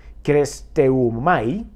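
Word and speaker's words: χρηστεύομαι: Es benigno, dice, y esta es una palabra también griega que se usa y se pronuncia kresteumai, y ese significa ser amable, mostrar compasión, ser gentil, tener un buen comportamiento.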